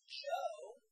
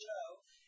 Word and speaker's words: Zhou: which is spelled C-H-O-A in English, but it's Zhou, pronounced Zhou, and the Qin, spelled Q-I-N on this map,